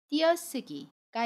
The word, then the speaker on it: 띄어쓰기: 예를 들면 띄어쓰기가 있어요. 자음 쌍디귿과 모음 의가 만났지요. 그래서 띄어쓰기 라고 발음해요.